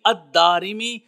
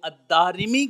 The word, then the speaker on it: الدارمی: آپ فرماتے ہیں بکسر الراء، یعنی الدارمی را کے کسرہ کے ساتھ ہے۔ اس سے معلوم ہوا کہ جو الدارمی کا لفظ ہے، اس کا جو تلفظ ہے، وہ دال کے اوپر زبر، پھر الف، پھر را کے نیچے زیر، الداری، پھر میم اور پھر یا، الدارمی کے نام سے